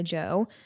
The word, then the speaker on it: Djo: End of Beginning by Joe. I think that's how you say it. It's by Joe Keery, but the band is like DJO, so I assume that it's like a pun, whatever.